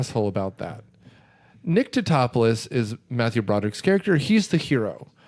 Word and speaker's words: Tatopoulos: from Italy and agrees you just pronounce the letters it's Tatopoulos but to top a